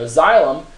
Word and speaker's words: xylem: it to the leaves now the best way to remember xylem is this w X Y Z now you remember w for water ex-wife or how to spell it and z for how to pronounce it so xylem perform that